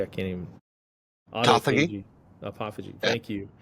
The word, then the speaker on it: autophagy: killing is the apoptosis, necrosis, how do you pronounce apophagy? I can't even. Autophagy.